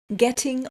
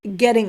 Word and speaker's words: getting: this actually there are three different natural ways to say this depending on your accent all three of them pronounce the T differently some people including Posh